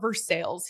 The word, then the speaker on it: Versailles: ver Versailles you know like the city of versa like it's French right they call it versales here and they're like yeah